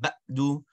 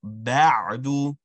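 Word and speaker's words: بعد: So we have ba with a a sound, ayn with a connect, and a dal with a u sound. So you have ba'du. So what you're going to do is that there's no letter ayn, you want to get under it. And you don't want an abrupt stop. You don't want ba'du, right? Rather, ba'du, ba'du. Ba'du.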